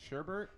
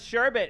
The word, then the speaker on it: sherbet: here was my dilemma I always heard it pronounced Sherbert but I saw always saw it written sherbet yeah and so I